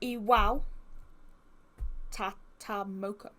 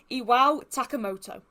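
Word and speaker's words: Iwao Takamoto: I did pronounce his name wrong. It is Iwa Tatamoka I believe. I keep getting sounds good. It is I I get the K and the T mixel. It is Iwa Takamoto.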